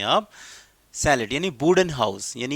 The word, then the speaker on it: chalet: लिखा है CHALET, okay, इसे आप ये मत पढ़ना कहीं आप इसे पढ़ें चैलेट। चैलेट, इट्स नॉट अ चैलेट। The correct pronunciation of the word सैले, सैले, सैले, इसको सैले पढ़ते हैं।